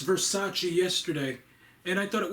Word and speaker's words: Versace: I just learned how to pronounce Versace yesterday, and I thought it was Vervace.